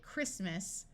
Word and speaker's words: Christmas: its long sound Christ notice that when we go from Christ to talking about the holiday Christmas the T sound disappears and the I becomes short Chrome that's a type